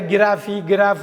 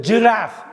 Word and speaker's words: giraffe: இதில் வந்து நிறைய கிராஃப் இதெல்லாம் சொல்லுவாங்க. கரெக்டான உச்சரிப்பு ஜிராஃப்.